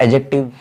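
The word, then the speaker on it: adjective: इसे आप एडजेक्टिव ना बोले, डी यहाँ पे साइलेंट होता है। फिर हमें पढ़ना है एडजेक्टिव, और उसके बाद आता है फिर एडवर्ब, क्रिया विशेषण जिसे बोलते हैं।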